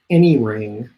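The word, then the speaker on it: ENYRING: electric bikes this one it's called any ring that's spelled eny ring and it's yamaha's own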